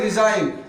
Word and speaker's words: resign: अब इस एन से पहले देखो जी है कि नहीं है? तो अब इस जी को साइलेंट रखना है, पढ़ना नहीं, लिखना है, पढ़ना नहीं है, लिखा जाएगा, पढ़ा नहीं जाएगा, इधर नजर रखना, ठीक है?